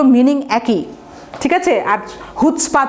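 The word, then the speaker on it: chutzpah: এটা হচ্ছে হিব্রু একটা ওয়ার্ড, হ্যাঁ, উচ্চারণটা আমি লিখে দিচ্ছি, হুটস্পা, HUT, হুট স্পা, SPAH, অর্থাৎ CH আছে অথচ উচ্চারণটা হবে হুটস্পা। তাহলে excessive arrogance, self conceit, excessive নিজের যে বড়াই সেটাকে বলা হয় হুটস্পা।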